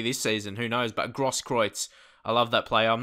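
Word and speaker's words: Großkreutz: letter that is, but I know that's the way you pronounce him is correct. But that's some kind of weird B it looks like. But it must be a S in German.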